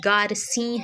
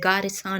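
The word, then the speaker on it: Garcin: افتخار حسین کے بموجب نام کا درست تلفظ گارسیں ہے، گارساں نہیں ہے۔ اچھا جی، ڈاکٹر اسپرنگر،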